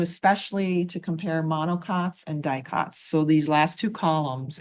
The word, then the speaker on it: dicots: monocots Compare monocots to we tend to shorten it and just say dieots but technically u dicots is the correct way to say it.